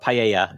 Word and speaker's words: paella: Anything but paella.